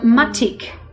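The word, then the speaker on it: Matič: great producer we like called matik or vermat eats but it looks like matic when in the spelling that you'll see on the label i'm pronouncing spanish yes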